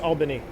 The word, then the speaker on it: Albany: just must be like clouds Mike H albinius pronounced Albany open the Albany is the nav Status